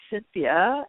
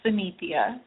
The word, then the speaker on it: Synethia: Okay, so next we have Cynthia, and Cynthia in Maryland. I hope I said your name right. It's Synethia. Synethia. Okay, I knew yes.